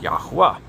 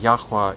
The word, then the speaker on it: Yahuwah: And we believe that is pronounced Yahuwah. But either way, it's not pronounced God or Lord.